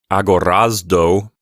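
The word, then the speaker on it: ἀγοράζω: mentioned before we are telling you to pronounce the letter Zeta as if it is a z sound and a D sound put together so that's why we're pronouncing this word like agorazdo as you continue your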